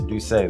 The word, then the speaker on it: D'USSÉ: have you here all right tell me about duay did I pronounce it correct yes duay that's is this is correct um we're really